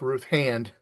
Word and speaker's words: Ruth Hand: Yeah, but say her name right, Greg. It's Ruth Hand.